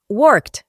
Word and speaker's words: worked: resto de pronombres, y la pronunciación es worked, con una T al final, worked.